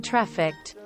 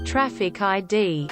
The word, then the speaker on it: trafficked: police department who kept saying trafficked as traffic ID and it got more